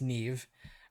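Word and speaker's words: Niamh: I had to look this up how to pronounce it because I was definitely getting it wrong in my head it's not neam it's Neeve uh I'm not not Irish I think I'm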